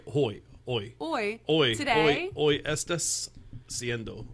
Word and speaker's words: hoy: I meant to say hoy.